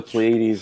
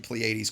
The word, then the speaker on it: Pleiades: When we were in the Pleiades, I mean, if you can imagine, the Pleiades is pretty quiet.